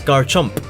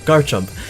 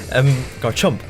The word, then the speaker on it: Garchomp: His final one is Garchomp. Why did I say it like that? Garchomp. Garchomp. Which is, you know, Togekiss is fine.